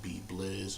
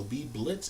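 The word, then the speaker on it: Beeblizz: figure out i am b blizz on ps4 that's b e e b l i z z notice i didn't say a t in there so b blitz is the incorrect pronouncing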